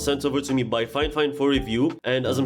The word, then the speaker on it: Fifine: Here you have the Fifine name, it's pronounced Fifine by the way.